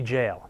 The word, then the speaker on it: Gaol: looks like Derby G but it's not it's pronounced Darby jail and we're going to have a Little Help